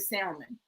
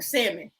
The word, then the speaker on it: salmon: like a piece of salmon or salmon, okay? The L is silent. I'm sorry. You got to elevate. You can't go to the restaurant and order some salmon.